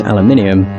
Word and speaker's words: aluminium: I just know that aluminum is the American pronunciation, as far as I'm aware, whereas aluminium is the British pronunciation.